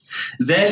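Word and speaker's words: ذال: Zel in standard Arabic is pronounced like a voiced TH sound, as in the word mother, while in standard Arabic it's a regular Z sound.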